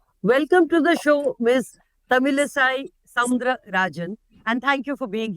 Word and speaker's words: Tamilisai Soundararajan: Tamilisai Soundararajan, and thank you for being here with us. I hope I pronounced your name correctly.